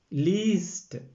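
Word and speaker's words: liest: ഇഹ് ലേസെ normal conjugation, അതിനുശേഷം ദു വരുമ്പോൾ ദു ലീസ്റ്റ്. ഇവിടെ ശ്രദ്ധിക്കേണ്ടത് ലേസ് എന്നുള്ള വെർബ് സ്റ്റാമിലെ എ മാറി അതിന് പകരം ഇ എ, ലീസ്റ്റ്. അതിൻ്റെ ഉച്ചാരണം വരുന്നത് ശ്രദ്ധിക്കുക, ലീസ്റ്റ്.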